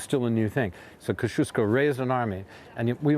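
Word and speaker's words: Kościuszko: well about this about the square is today's Koshu ski whoo sorry Kosciusko say it right it's bit cold who here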